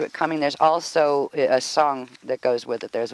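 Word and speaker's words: esayn: in infinitely aware is the word esson which is e-s-a-y-n and it's pronounced s on like e-s-o-n so and you'll see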